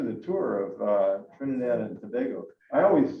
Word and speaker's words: Tobago: way we pronounce it the way the government and the way the locals pronounce it is tobago like tobago okay so we